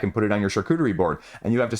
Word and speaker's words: Charcuterie: Next up, we have Charcuterie, the board game. Yes, I pronounced it right for once.